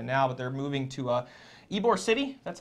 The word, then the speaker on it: Ybor City: Petersburg, if you didn't know by now, but they're moving to Ybor City, that's how you pronounce it, just a little bit north of Tampa.